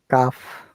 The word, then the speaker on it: calf: Remember, L is silent. 1.5 hours. Half. So Half these are hour. the words where L is silent. Half, calf, yeah, walk, yeah. L is silent. Yeah. We don't pronounce. Okay. If there is LF, LK, we do not pronounce L.